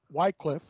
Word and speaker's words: Wycliffe: This is John Wycliffe, Wycliffe as some pronounce it, called the morning star of the Protestant Reformation in England.